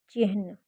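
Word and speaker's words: चिह्न: से गलत शब्द है चिन्ह की सही शब्द की है जिसका उच्चारण है चिन्न होता है जो च ई ह न के मेल से बनता है इन विराम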